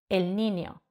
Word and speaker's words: El Niño: meteorológico el niño Pero en esos casos se suele pronunciar como una ni el niño y en otros casos